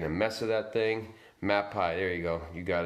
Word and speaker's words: Mapei: It's made by Mapei at Lowe's, M-A-E-P-I-E. Mapei or Mapei, they pronounce that.